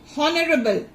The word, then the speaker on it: honorable: We don't say honorable. H is what? Silent. O, you can get the word beginning with O. O sound.